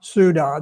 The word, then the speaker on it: Ceuta: Um and if you if you need to know how to pronounce it, just remember duda Ceuta. That's That's the way that that you pronounce it.